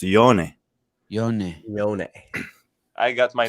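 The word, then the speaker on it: Jonne: yeah it's like like everyone says jonakowski's name wrong it's not jonah it's yone i got my name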